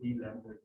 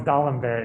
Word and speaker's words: d'Alembert: Used to call it D-Lambert principle. Oh, it's D'Alembert, yeah. If you speak French, which I don't, but that's how you pronounce it, ish.